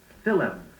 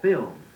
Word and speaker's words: film: too many times you hear someone say athlete instead of athlete film or film mischievous for mischievous look up doubtful words in